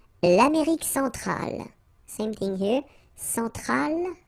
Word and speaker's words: Centrale: Centrale, remember, E-N nasal, so it goes in your nose.